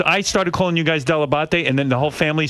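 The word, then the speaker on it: Dell'Abate: father even called himself delabate no my my father always called himself delabot delebate and he said that he just americanized it but della batte is in fact the proper pronunciation so when did your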